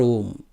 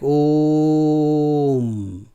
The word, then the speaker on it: Om: So, they are saying not to pronounce Om like Om, but to pronounce it like Om. So, M will be long, O will be short.